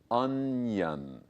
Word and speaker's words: onion: So the O-N is un. I-O-N is yun, onion. 好，所以像这样子的洋葱的这种字呢，其实确实同学们一开始看到会一下子不知道怎么发，然后可能会发出像刚刚 Bruce 老师讲的这种很自然的反应，比如说 on，你如果这样子去拆，就变成 on，which is really I mean Yeah.